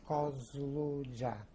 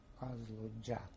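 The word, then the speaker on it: Kazludja: Of the village is difficult to pronounce. It was Kozluja. K-A-Z-L U-D-J-A, Kozluja.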